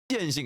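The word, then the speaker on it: Jianxin: Jianshin, guys. It's pronounced Jianshin.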